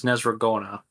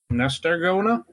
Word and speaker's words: Nezragona: Which you know her name is Nezragona. Nestargona? Nezragona. Okay, so the T is silent.